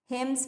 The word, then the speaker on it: hymns: His mother has been chanting और singing, chanting मीन्स होता है भजन गाना, हिम्स मीन्स भजन, HYMNS, N यहाँ पे होता है साइलेंट।